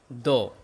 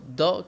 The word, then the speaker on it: the: এটা কনসোনেন্টের আগে থাকলে তার উচ্চারণ হয় দ, আর ভাওয়েলের আগে থাকলে তার উচ্চারণ হবে দি।